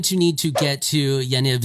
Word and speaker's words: Yaniv: need to get to Yaniv station I guess that's how you pronounce that I don't know the Y A N IV station you can